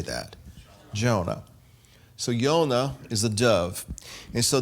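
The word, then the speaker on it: יונה: but it's Yud Vav Nun He, and it's pronounced Yonah. Now, how do we say that? Jonah. So Yonah is a dove.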